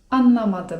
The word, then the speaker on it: anlamadım: 'Nie rozumiem' to po turecku: anlamadım (czyt. anlamadym) anlamadım (czyt.